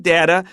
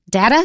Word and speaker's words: data: oh first of all data can also be pronounced data I usually say data but data is also fine and the other thing